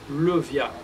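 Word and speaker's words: Leviah: jusqu'à 20 juin 2023, chérubin et génie, c'est Levia, qui s'écrit L-E-V-I-A-H.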